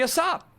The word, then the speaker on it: ASAP: Do you pronounce it ASAP as if the A is the letter A? That doesn't make any sense. Why would you? Why would you pronounce it like that? That's crazy. It should be a sop.